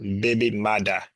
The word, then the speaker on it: baby mother: The term originated in Jamaican Creole as a baby mother, pronounced baby mada, with the first printed usage appearing in the Kingston newspaper, the Daily Gleaner, in 1966.